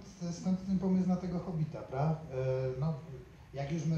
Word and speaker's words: Hobbit: Po angielsku Hobbit się wymówił z jednym B, chociaż pisze się ze dwoma. No i ja uznał, że